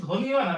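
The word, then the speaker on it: ধ্বনি: দেখ ধনি শব্দের শুরুতে ধ এর সাথে বফলা আছে তাহলে এখানে বের উচ্চারণটা হবে না।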